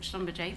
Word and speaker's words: Schlumberger: property at, is it Schumberger House? There are lots of pronunciations of this building. So we have in Aurora call it Schlumberger, but that's by the by, yes.